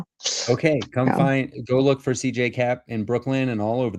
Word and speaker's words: CJ Koepp: I'm on social media, CJCap. K P. My last name doesn't make any sense the way I spelled it pronounced.